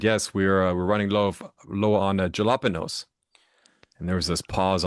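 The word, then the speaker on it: jalapeño: It starts with a J. A J starts with a J sound, Hmm. not an H sound.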